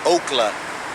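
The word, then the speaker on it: אָכְלָה: That's Strong's H402, and the pronunciation is okla, and the definition is food eating, object of devouring, consuming.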